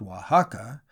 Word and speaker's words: Oaxaca: Oaxaca, pronounced Oaxaca, is some 300 miles